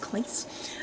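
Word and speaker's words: Claes: actors place place bang I think his name is pronounced Cleese a policeman bang who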